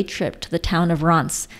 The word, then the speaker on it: Reims: to the town of Reims, spelled R-E-I-M-S, but pronounced Reims with a rolling R. Reims would be incorrect. Say France with a French accent and then drop the F.